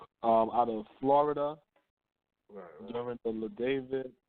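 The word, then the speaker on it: La David: I want to say the brother name is LaDavid, right? Make sure I say his name correctly. The brother. You talking about he got David killed in the war. Yeah, LaDavid. Yeah.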